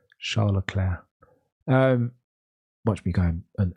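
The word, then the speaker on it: Leclerc: English angiz his name I think I understand the way to pronounce it that I sometimes mess up Charla CLA you know like the the woman's name CLA Charla Clair um watch me going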